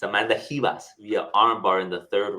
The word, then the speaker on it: Ribas: calm down chill listen it's hias the Brazilians they they they sometimes pronounce the r like an H so I got to